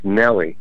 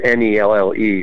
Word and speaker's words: Nelle: Lee, it's only because she didn't like how people would mispronounce her first name as Nellie. Oh, her name is Nelle.